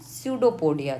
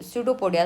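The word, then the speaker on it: pseudopodia: सडोपोडिया कहते हैं। I think आपको सडोपोडिया समझ में आ रहा होगा। यहां पे पी जो है वो साइलेंट है।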